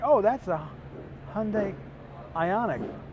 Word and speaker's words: Ioniq: oh that's a hyundai ioniq they would mispronounce the name they would call it everything from ICONic that many times okay